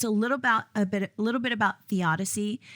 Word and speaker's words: theodicy: It's a little bit about theodicy. That's Theodicy. It sounds like Odyssey, so I wanted to spell it theodicy.